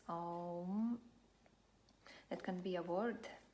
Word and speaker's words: Om: So it consists only of 3 syllables. Om.